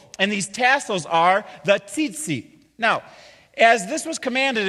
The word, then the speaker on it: tzitzit: Okay, everybody say tzitzit. It's T-Z-I-T-Z-I-T. So if you're twittering right now, that's how it's spelled.